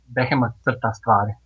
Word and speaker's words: Behemoth Tvar: Yeah, it's I'm gonna pronounce it like we would pronounce it. Mhm. It's pronounced Behemoth Tvar, and it's basically when translated means like Behemoth draws stuff.